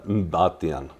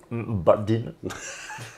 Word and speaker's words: Mbatian: Och sen har vi då efternamnet som är underbart utan vokaler. Mbatian. Mbatian.